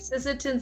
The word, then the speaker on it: Sisseton: saying that right ah i said it right sisseton south dakota area you can find dr morales